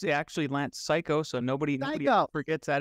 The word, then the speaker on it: Cayko: that's very I mean it's spelled c-a-y-k-o but it's pronounced psycho like are you psycho yeah a little bit